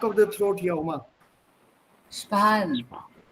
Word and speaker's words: sparen: Because that R sounds totally different for me than yours. Sparen. Sparen. Right. That R comes from the back of the throat.